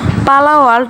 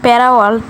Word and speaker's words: Palworld: গেমের উচ্চারণ ভুল করছিলাম তো গাইস এটার নাম পালা ওয়ার্ল্ড আমি বলছিলাম প্যারা ওয়ার্ল্ড আর তিন নাম্বার গেমের